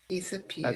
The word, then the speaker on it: disappeared: Disappeared. That's it. And that's a good thing that you pronounce that as S. Disappeared, not disappeared, which is a very common a very common mistake.